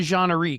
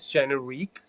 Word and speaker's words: Jeneriq: So, so you go by Jeanie, is that right? Am I pronouncing that right? Uh, right. So, my you can call me though, like everyone calls me. Okay. My artist name is Jenerique.